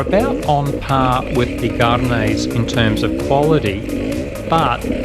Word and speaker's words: Gaerne: And yes, it's pronounced Garnay, not Gern or Gay-urn, as most of us have been saying for years.